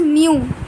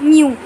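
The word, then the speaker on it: μ: This is pronounced as mu. Not you, but mu.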